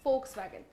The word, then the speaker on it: Volkswagen: It is pronounced as V, so it is Volkswagen.